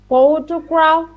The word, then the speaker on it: photograph: yes sorry yes uh photograph okay so wait wait wait wait sally let's go little by little so um pay attention to the stress the stress at the beginning so photograph that's better photograph the last is our